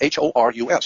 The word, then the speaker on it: Horus: You spell it H-O-R-U-S, Horus.